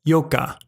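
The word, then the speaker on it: 四日: It's not yonnichi, but rather yoka. In other words, it uses a slightly different version of the kunyomi for 4 and the kunyomi for day.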